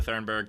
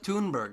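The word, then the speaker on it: Thunberg: we just have Greta Thornburg just just being upset by things I do that be nerves you can't pronounce dog it's Greta toon burg my god it's almost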